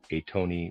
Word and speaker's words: Atony: Atony reader aside is spelled a t o n y.